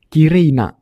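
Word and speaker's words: きれいな: sebenarnya kata sifat nak jadi bacanya Kirei ditambah nak kireina cantik contoh pola kalimat kata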